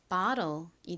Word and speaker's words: bottle: O가 아 소리 나서 바라고 발음되고 TTLE는 roll이라고 발음되니까 bottle이 되죠.